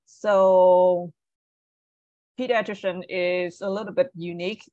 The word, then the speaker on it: pediatrician: so um let's get the first one to pronounce this word um all right so number one pediatrician right so PD pediatrician so the stress is on here yes all